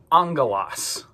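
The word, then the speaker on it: ἄγγελος: when we see these two letters next to each other or if gamma is followed by kappa key or cass that first gamma we're going to kind of pronounce like a new sound an in. So this word is angalos.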